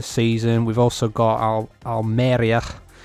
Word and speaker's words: Almería: we've also got our almería that's how you say it there at home on